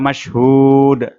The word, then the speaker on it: مشهود: Kemudian wa mashhud, haknya dibaca panjang dua ayunan, dan di akhir ayat dibaca qalqalah atau dipantulkan.